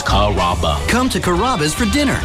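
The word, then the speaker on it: Carrabba's: You know, Kuraba, Kamaba, Kamba. It's a really easy name to pronounce. It's Kaba.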